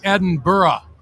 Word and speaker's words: Edinburgh: In Edinburgh, and that's the correct pronunciation of it.